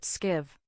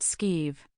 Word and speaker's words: Skiv: "Hurry up and get those supplies on board, Skiv." "It's pronounced Skeeve."